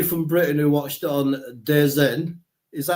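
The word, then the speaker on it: DAZN: But anybody from Britain who watched on Dez Zen, is that how you pronounce it? They call it the zone, don't they?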